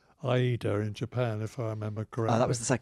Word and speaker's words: Ayrton: hi Anton Senna and I had become sloppy like a lot of people and was now calling him Ayrton Senna so I resolved in the 1994 that I would use his correct pronunciation of his Christian name so in the first race of the which was I eat her in Japan if